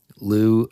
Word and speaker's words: Lugh: Lou, I'm just going to call him Lou. Okay. Yeah, Lou it is. Like Lou Diamond Phillips. There it is. Or Lou Gossett Jr.